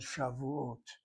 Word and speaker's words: Shavuot: Without you knowing how to read Hebrew, that kamatz that marker underneath that first letter happens to be a long A sound, not the other kamatz, which is only medial or short.